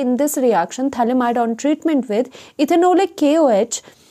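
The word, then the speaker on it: phthalimide: ये जो थैलीमाइड है और इसमें PH जो होता है वो साइलेंट होता है, आप इसको यहाँ से पढ़ते हो, TH से पढ़ते हो, थैलेमाइड।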